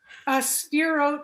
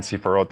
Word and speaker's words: Sephirot: Am I pronouncing that correct? Spherot in plural. Okay, there we go. So Yeah. 10 Sephirot, and then so there's 10 of them, and